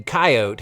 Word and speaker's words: coyote: two things number one some Americans might opt for the dismissive two- syllable approach when another pesky coyote has gotten into the barn again and number two coyote appears to just be the predominant pronunciation out west oh and speaking of